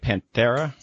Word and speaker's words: Panthera: the organization Panthera I think that am i pronouncing it right Panthera yes the biggest NGO who focus on the